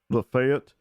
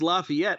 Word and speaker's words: Lafayette: Tennessee but there's a lafette and you can either pronounce it lafette or Lafayette it's Lafayette I I had I